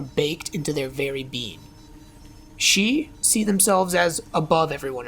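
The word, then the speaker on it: sídhe: we bring ourselves to the she that's spelled s d h e I know I know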